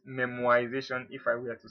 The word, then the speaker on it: memoization: memorization is like memorization it's not memorization but memoization if i were to